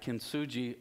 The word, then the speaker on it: Kintsugi: Kintsugi, I think, is how it's pronounced.